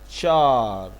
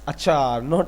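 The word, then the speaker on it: چار: Char. Char. Oh, it's happened. Char. Char. Sometimes it's achar. It's not achar.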